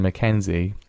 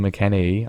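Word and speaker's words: McKennie: shuffled in by Western McKenzie McKenney sorry Western McKenney I was I was calling West McKenzie up again his name wrong for years now I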